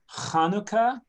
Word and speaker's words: Hanukkah: it should be pronounced hanukkah it's a guttural it's like a ch in english this word is the